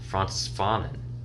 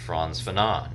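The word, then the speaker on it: Frantz Fanon: long I had been I thought his name was for my vernacular pronounce France Fen but no it's fron fenan okay Dr fron fenan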